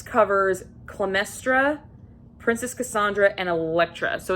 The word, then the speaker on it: Elektra: next book i picked up was jennifer saints elektra yes elektra that's how you say it um this is